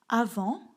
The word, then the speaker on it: avant: une vidéo traduite en arabe égyptien c'est parti avant avant attention on ne prononce pas le thé à vent maintenant